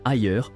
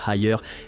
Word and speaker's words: Haier: D'ailleurs, le nom Haier provient directement des 2 dernières syllabes du nom de Liebherr, prononcé à la chinoise.